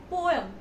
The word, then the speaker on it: poem: pronounced as you say the correct word poem poem it's not poem it's poem please do correct it you given you